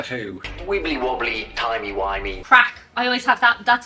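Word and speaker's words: craic: you're so American arest crack is like obviously in America not a good thing but in Ireland a very good thing it's spelled differently correct c a i right okay can you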